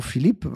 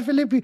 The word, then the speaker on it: Philippi: kann da gibt's Ryan Filippi beispielsweise ein echt cooler Fußballer oder hab ich richtig ausgesprochen ich GL Franzose dann heißt der Ron Philippe wahrscheinlich nicht war ein Philippi so danke dafür neppi aber